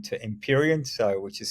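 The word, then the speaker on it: Empyrean: Cloud solutions group has changed its name to imperion so which is spelled e m py re a n so imperion uh doesn't mean I'm an emperor few of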